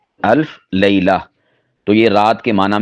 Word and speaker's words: الف لیلہ: نا الف لیلہ بولا، یہ اصل میں ہے لیلہ عربی کے اعتبار سے۔ تو چونکہ اردو لہجے میں لیلہ بھی بول دیتے ہیں تو اس طرح دونوں طرح استعمال ہو سکتا ہے۔ ویسے اس کی جو درست ادائیگی ہے وہ ہے الف لیلہ، الف لیلہ۔ تو یہ رات کے